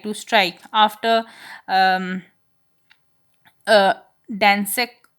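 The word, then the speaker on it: Gdańsk: After um, Dansek, you can say Dansek, maybe G silent, agreement was signed, a new trade union called Solidarity.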